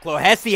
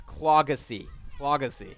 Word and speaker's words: Clohessy: His nickname is Clogs, and his name is pronounced, my mistake on this, it's Clogacy. Braden Clogacy with the big run.